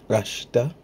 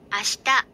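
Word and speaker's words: あした: Note, listen carefully to the pronunciation of the word ashita. You'll notice that the I in she is hardly there. This is the same whispered vowel effect we observe in the words desu and deshita.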